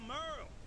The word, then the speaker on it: Merle: Yeah, I'm Merle. Spelled like Hurl.